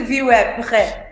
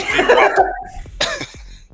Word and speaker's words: VWAP: Here's the view app. You wap. Oh, As I've been quiet today, I'm just view up. I'm not. And you're not saying it right. It's VWAP.